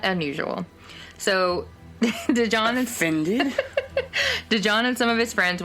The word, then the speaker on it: DaJohn: DaJohn. It's D-A' John. Oh. Yeah. Okay. So I'm having to and it's, yeah, I know. I thought you were doing a D-E and just pronouncing it duh, no.